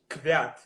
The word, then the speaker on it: Kvyat: So you So as you told, you sort of swallow the K, right? So it's like no, Kvyat. Kvyat. Oh, you swallowed the V. So you said it pretty much well. Kvyat.